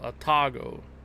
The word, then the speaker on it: Atago: Emphasis is on the second syllable. Atago.